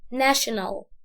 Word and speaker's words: national: احنا عارفين ان الاس اتش بتتنطق ش، بس ما بيننا مش منتشر قوي ان احنا نقول ان التي والاي والاو بيتنطقوا برضو ش، برضو نفس الطريقة.